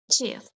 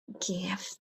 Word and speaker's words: give: It means it will be example here, give. We can say jiff, but give.